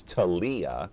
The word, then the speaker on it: Thalia: It is a business day, and we're glad to have along, of course, I mispronounced your name, of course. It's Thalia, right?